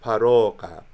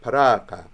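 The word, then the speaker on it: ܦܪܘܩܐ: So the word savior is paroka. Originally it would have been like paraka. Paraka. It would be a mid-back rounded vowel today, an O sound.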